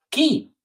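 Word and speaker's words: כי: Vamos a tener una palabra muy importante al comienzo del siguiente párrafo, en el versículo 6, la palabra porque en hebreo se pronuncia qui y podríamos decir que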